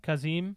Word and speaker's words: Kazim: That's how you say it, Kazim. Kazim, because they say it at the beginning.